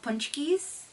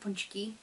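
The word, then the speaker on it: pączki: always eat these um polish donuts called punchies or pkis I've heard it pronounced both ways um I've always heard it punchki um but where I live they call them poies I don't know it's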